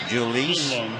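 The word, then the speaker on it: Jhoulys: That first name is J H O U L Y S and is pronounced Julis.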